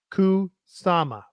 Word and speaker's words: Kusama: Well, say it phonetically. Kusama. Yeah, that's it.